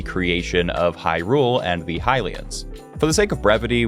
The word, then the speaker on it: Hylian: say it's Helia and some people pronounce the hillians as hillions I pronounce it as hylians so it's going to